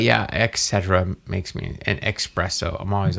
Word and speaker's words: espresso: makes me an espresso. I'm always like, okay, whatever. Espresso. There's no X in espresso.